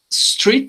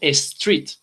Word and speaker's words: street: Porque yo pronuncio, yo en vez de decir street, yo digo street. Le pongo una E antes, ¿ok?